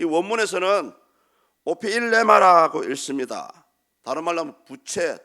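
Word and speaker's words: ὀφείλημα: 이 원문에서는 오피일레마라고 읽습니다.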